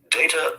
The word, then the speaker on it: data: people who deal with data professionally know that the first syllable of data rhymes with rate not rept the word is plural